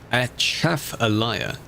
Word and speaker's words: Atchafalaya: If you're wondering how it's pronounced, Atchafalaya.